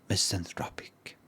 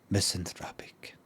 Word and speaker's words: misanthropic: How is that ah? And today's word is a word that means to dislike people. And that word to pronounce is misanthropic. That word again, misanthropic.